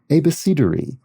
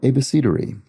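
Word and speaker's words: abecedary: synonym of alphabet uh a besidery a-b-e-c-e-d-a-r-y which comes from mashing a b and c together and trying to pronounce them so there you go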